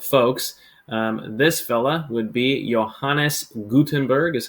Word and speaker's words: Johannes Gutenberg: This fella would be Johannes Gutenberg, is how you pronounce it, and enjoy the video.